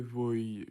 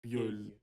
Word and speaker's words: vieille: Très vieille. How to pronounce that? Viol. Vieille. Vieille. Vieille.